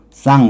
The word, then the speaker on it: sans: 원래는 불어라면 s 발음하지 않을 테니까 쌍 그러겠죠.